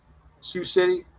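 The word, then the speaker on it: Sioux City: How do you say that in Iowa? Sue City. Sous City.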